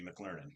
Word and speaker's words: McLernon: your last name, McLernon," which I would say if McDonald's had a school and I was a student, I'd be McLernon.